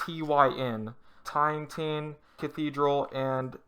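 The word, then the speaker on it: Týn: It's called the Tin, or T. It's spelled T-Y-N, Tin Cathedral, and it's the square that they're in is called the Old Town Square in Prague.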